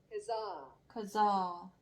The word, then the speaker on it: Kazakh: Kazakh. H 발음 안 해야 되네. 그냥 Kazakh. 이거는 카자흐족, 그러니까 카자흐 사람 또는 카자흐 언어, 말.